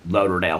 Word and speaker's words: Lauderdale: Lauderdale County she's been which they pronounce differently it's like laderdale County or something like that but anyway they have been maybe it's their accents I don't know but they it wasn't like Fort Lauderdale how they pronounced it it was similar but different but anyway she's been